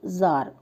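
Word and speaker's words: tsar: यह spelling T एस ए आर है। लेकिन इसका प्रोनंसिएशन निकलता है जार।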